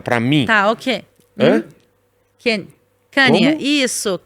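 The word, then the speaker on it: Kanye: O marido da Kim Kardashian, que é o eh Kane West.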